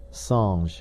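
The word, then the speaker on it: singe: in the same way he was taught to pronounce ape San and tree AR he was a most eager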